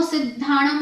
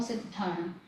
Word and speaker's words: सिद्धाणम: सिद्धाणम की स्पेलिंग देखिए, स में छोटी की मात्रा, ये द आधा है, फिर ये धा है, ये घ नहीं है, ध है, और फिर आ की मात्रा।